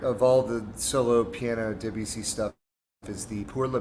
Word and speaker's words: Debussy: I mean, I'm not sure I'm pronouncing it exactly correctly either, but Claude Debussy, and it's spelled Debussy.